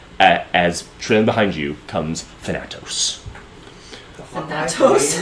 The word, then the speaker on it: Thanatos: at the inhabitants, as trailing behind you comes Thanatos. Thanatos? It's how you pronounce it, yeah. Oh, Thanatos.